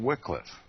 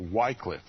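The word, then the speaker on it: Wycliffe: spiritual Reformation footsteps of John Wickliffe or whitecliffe if if that's how you prefer to pronounce his name the morning star of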